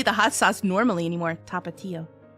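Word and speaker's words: Tapatío: Tapatio. Yeah, tapatio and then tapatio. You're just shortening the syllables a little bit and then putting an accent on the I.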